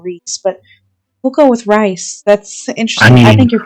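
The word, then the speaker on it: Rhys: Rice. Rice. That's right. You're being named after food. How do you spell it? It's spelled RH H YS. Rice.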